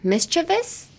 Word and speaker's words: mischievous: The pronunciation, what would be the hard word to say? Mischievous? Mischievous. Mischievous. Mischievous. Mischievous. Then well, chivous would be like ch.